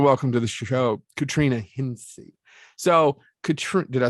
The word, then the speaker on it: Hencye: i want to welcome to the show katrina hinsi so did i say it correctly yeah but